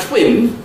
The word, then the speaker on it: twin: oh great, is talk, but if you had twin, which would be another example of a labialized T sound, then you'd have to have a W, and then also, after the T, you'd have to have a little raised W.